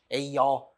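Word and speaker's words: Aᶜ: C승이라고 읽지 않아요. 여라고 읽어요. A여. 그 맨날 문제 풀때 a여 a어 이럴 거예요.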